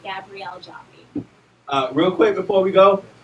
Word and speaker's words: Gabrielle Joffie: ll e jo and I eat and it's pronounced Gabrielle Joffe real quick before we go we want to